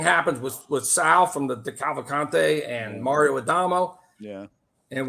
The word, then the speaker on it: Cavalcante: I can't even fucking pronounce that fucking family name. What do you call it? Decalavante? Oh, the Cavalcante.